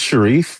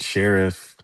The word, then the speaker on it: Sharif: Charles, it's Sherief, but you can say like Sheriff. You can you can say it both ways.